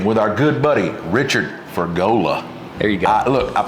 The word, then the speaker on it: Fergola: All right, we're back cooking with our good buddy, Richard Fergola. There you go. Look, I pronounced his name right again on camera.